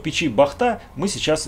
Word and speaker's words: Бахта: Что интересного в печи Бахта мы сейчас и выясним, кстати, именно Бахта с ударением на последний слог.